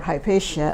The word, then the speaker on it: Hypatia: have in Alexandria with HIPAA who is the last of the new platonist uh The Savage murdering of HIPAA uh or hypatia as others pronounce her uh Egyptian wisdom had